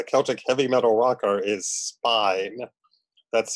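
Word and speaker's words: Spÿwn: name as a Celtic heavy metal rocker is Spine. That's spelled S-P-Y with an umlaut W-N.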